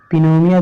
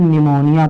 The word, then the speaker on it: pneumonia: अब आप इसको क्या पढ़ोगे, पिनोनिया थोड़ा पढ़ोगे, इसको आप निमोनिया पढ़ोगे। क्या पढ़ोगे, निमोनिया, है ना। तो देखिए यहाँ पर देखिए एन से पढ़ा गया है, पी आपका क्या है, साइलेंट है, क्योंकि ये एन से पहले आया है।